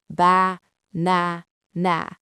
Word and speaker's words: banana: This sounds robotic, but a native speaker knows there is only one king in this word. The king is the middle syllable, na. So the first syllable becomes a ghost, not ba, but ba. The last syllable becomes a ghost, not na, but na. Listen to the music. Ba, na, na. Do you hear it? The middle is loud. The sides are ghosts.